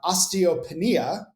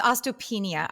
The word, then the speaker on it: osteopenia: I don't do dairy, but now I have osteopenia and I'm scared. Oh, E_Priv. I'm sorry to hear that. First of all, did I pronounce that correctly? No, it's okay. It's okay. It's osteopenia.